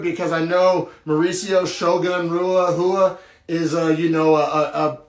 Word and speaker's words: Rua: to know that then the brazilians pronounce their r's with a hoof sound so it's mauricio shogun hua plus 150 underdog versus